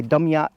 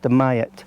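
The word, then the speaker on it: Dumyat: mayat spelled d-u-m-y-a-t so some people might say dumb yat but it's pronounced the mayat so what I thought might make quite a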